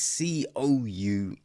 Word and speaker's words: Cousens: Ah, you might pronounce that Cousins, maybe. I'm not sure. Right, it's Cousens. So, yeah, I say Cousins, but you know, there you go, people.